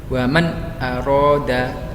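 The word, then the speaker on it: وَمَنْ أَرَادَ: Yang hamzah bertemu nun sukun, contohnya waman aroda, jelas ya bacanya. Waman aroda, tidak boleh dibaca samar. Waman aroda itu salah. Jadi bacanya harus jelas.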